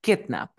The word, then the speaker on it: kidnap: sílaba la segunda sílaba a ver kidnap se pronuncia kidnap kidnap kidnap Dónde tiene la fuerza de voz se pronuncia kidnap al inicio pregunta usará reglas o